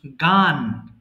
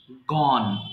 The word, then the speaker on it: gone: আচ্ছা, এটাকে মাঝে মধ্যে we pronounce গান, but গান is wrong, we have to pronounce gone।